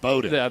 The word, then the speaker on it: Bowden: A lot of that was Bowen or Bowden, however you pronounce his name. And so for for me, spelled like Bowen, pronounced Bowden.